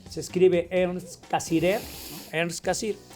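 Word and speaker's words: Cassirer: Hay un filósofo, Ern Cassir, se escribe Ern Casirer, Ern Cassir.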